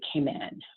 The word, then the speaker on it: Cayman: know throughout this presentation you've heard me say command which is the local and authentic way to say and pronounce came in if you want to